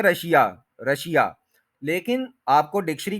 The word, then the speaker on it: Russia: को प्रोनाउंस करती है यह है रशा रशा रश आ रशा रशिया नहीं है यह आप मतलब हर कोई चूंकि रशिया बोल देता है इसलिए हमें लगता है कि यही ठीक है हमने डिसाइड नहीं